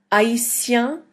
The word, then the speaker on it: haïtien: Haïtien, haïtienne. We don't really pronounce the H at the beginning of that.